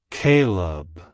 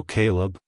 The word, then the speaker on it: Kaleb: pronounced as Caleb Caleb Caleb to pronounce it correctly emphasize the first syllable k y and pronounce the second syllable Leb as in lemon like hello Caleb goodbye Caleb if you found the